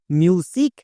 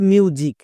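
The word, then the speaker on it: music: যেমন দেখো এই ওয়ার্ডটার উচ্চারণ কি করব? মিউজিক নাকি মিউজিক। কোনটা। কোনটা সঠিক? এখানে অনেকেই ভুল করেছ। তাই ভালো করে দেখবা। এখানে দেখো এস আছে আমরা জানি এস এর জন্য দুটো সাউন্ড হই দন্তস এবং বর্গীয়জ বর্গীয়জ কখনো হই এস এর দুপাশে যদি দুটো ভাওয়েল থাকে দেখো দুটো ভাওয়েল আছে ইউ এবং আই তাহলে এস এর জন্য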